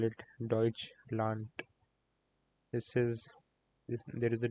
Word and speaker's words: Deutschland: In German language, this is pronounced as T. Whenever we have D at the end of a word.